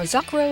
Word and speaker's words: Zakuro: Now, Zakuro is an interesting case. In the Kodansha version, they spell her name as Z-A-C-R-O, which is pronounced the same way as her Japanese spelling of her name.